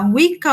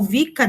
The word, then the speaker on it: Wicca: redor do mundo, temos a Wicca ou Wicca, dependendo aí de quem pronuncia, e o neopaganismo.